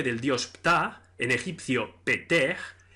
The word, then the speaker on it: Ptah: dios Ptah en egipcio peter, en que el tercer sonido es una aspirada que se pronuncia en la faringe y que no existe tampoco en las lenguas europeas, se escribe con 3